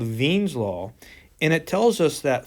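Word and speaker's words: Wien's law: a German guy and in German the W's are pronounced like English V's so this is actually called Vines law and it tells us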